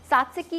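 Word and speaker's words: τζατζίκι: सात्सकी का नाम टी से लिखा जाता है लेकिन इसको प्रोनाउंस सात्सकी किया जाता है।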